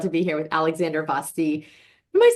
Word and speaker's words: Vasti: be here with Alexandra Vasti. Am I saying that right? So my family pronounces it Vasti, like Vasti. rhymes with nasty, which regrettably, alas, is the only word in English that rhymes with Vasti.